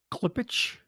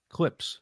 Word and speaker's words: Klipsch: Klipsch? Spell it Klipsch. Yeah. Klipsch. Clips.